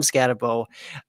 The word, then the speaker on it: Skattebo: Cam Skattebo, right? There we go. I got that one. I know that pronunciation.